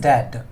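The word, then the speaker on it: debt: enable तू पे इस डेट बी साइलेंट होता है डेट अनेबल तू पे डेट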